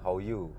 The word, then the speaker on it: Lokwi: Kamu boleh jumpa How You, namanya tulisannya itu Lokwi, tapi dia bacanya How You gitu.